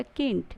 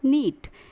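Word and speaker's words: knit: अगर आपसे के साथ पढ़ेंगे तो हो जाएगा किंट, बट किंट is wrong pronunciation, the right pronunciation is नीट, नीट बुनना।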